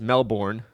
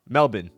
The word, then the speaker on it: Melbourne: not this is not pronounced Melbourne it's pronounced melbin apparently apparently the the O the U and the r in Australian is an I so it's Melbourne all right last but